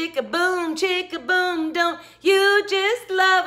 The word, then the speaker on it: chic: chic which is spelled c-h-i-c and it always seems really i always want to say check but it's not chick it's shabby chic french i guess i don't